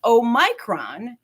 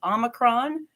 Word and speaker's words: omicron: it guys once again there's no single agreed upon pronunciation of this word there are multiple ways to pronounce it we'll hear omicron we'll hear omicron we'll hear omicron and we could also possibly hear o micron so however you're saying